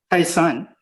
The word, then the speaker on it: Taishan: Kaiping or Taishan? Taisan, yes. Taisan. Sorry about my pronunciation.